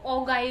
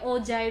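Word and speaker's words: ogive: Cumulative frequency curve को ओगाई भी कहते हैं, इसलिए मैंने यहाँ F2 शोल मेंशन किया है, क्योंकि क्यूमुलेटिव फ्रीक्वेंसी कर्व को ओगाई भी कहते हैं, ओजाई भी कई जगह प्रोनाउंस करते हैं।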